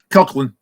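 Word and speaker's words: Coughlan: How do you say her last name? Coughlin.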